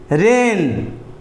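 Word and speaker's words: reign: है उसके बाद है रेन आर ई आई जी एन इसमें भी ए जी साइलेंट है चकि एन से पहले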